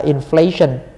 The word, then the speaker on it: inflation: Cái này là inflation, lạm phát à. Nhâm 2.